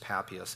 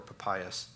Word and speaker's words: Papias: same thing that's just papias and in a fragment or papayas depends on how you want to pronounce them so here's irenaeus the